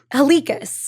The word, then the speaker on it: Halikas: I have Ella Halikas.